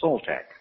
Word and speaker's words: Soltec: I found out that his name, or at least what he was known as, was a name that was spelled Soltec, pronounced in our language Soltec.